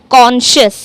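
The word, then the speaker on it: conscious: लेकिन यहां पर क्या साउंड करेगा? श जैसा। शा तो एस सी को आप शा में प्रोनाउंस करेंगे यानी कॉन्शियस।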